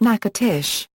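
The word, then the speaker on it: Natchitoches: The name is pronounced nakatish.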